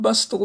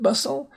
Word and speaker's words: bustle: Bustle, not bustle, but bustle.